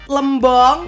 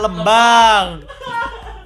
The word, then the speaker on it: Lembang: Dari arah barat, Jalan Lembong. Lembong. Lu Lembang bacanya gimana? Lembang kan? Lembong. Lembang.